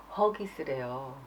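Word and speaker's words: Huggies: 우리나라에서는 그 하기스라고 해서 나오잖아요. 근데 영국 발음으로는 허기스래요. 허기스, 허기스, 허기스.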